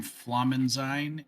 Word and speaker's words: Flammensein: I am Flammensein in most places. Easier to say Flammen, and I go by that.